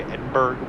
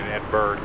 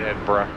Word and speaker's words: Edinburgh: I've been informed by one of my passengers in the back that I have been pronouncing it wrong the entire time. I've been pronouncing Edberg like Pittsburgh.